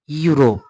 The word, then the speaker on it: Europe: से पढ़ते हैं, जैसे EUROPE, इसे पढ़ेंगे हम यूरोप।